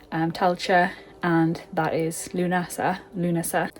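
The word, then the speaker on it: Lughnasa: Tela and that is Lunasa Luna. They put the pronunciation on the L Luna. So I'm going to start saying it like that.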